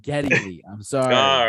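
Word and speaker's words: Geddy Lee: said if I said if I said giddy Lee I meant Getty Lee I'm sorry all right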